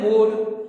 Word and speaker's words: mode: ऐसे कब कौन सा लेटर कहां साइलेंट होता है, कई बार ई साइलेंट होता है बाद में, जैसे कि MODE हम क्या पढ़ते हैं मोड, NOTE नोट, उसको नोटे नहीं पढ़ते, ई लिखा है जबकि।